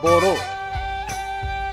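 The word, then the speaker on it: Bodo: of Boro or boroi when Europeans started writing the name they wrote Boro but spelled as b o d o correct pronunciation would be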